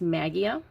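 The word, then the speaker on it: Maggia: I believe her last name is spelled Magia, or it's pronounced Magia.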